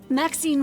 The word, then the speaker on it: Maxine: of most exquisite varieties maxine rhymes with queen after all and dearest